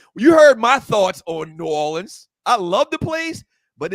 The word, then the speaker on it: New Orleans: And the people from New Orleans don't say Nolans. That's the marketing that people from New Orleans say New Orleans. They say New Orleans. They say all the syllables.